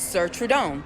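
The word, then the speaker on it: Cire Trudon: This brand is Sir Trudon, even though you only see Trudon there.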